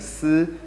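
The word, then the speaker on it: ㄙ: The last Zhuyin for this episode is going to be the Zhuyin Si, and it has a similar sound to the English combination SI.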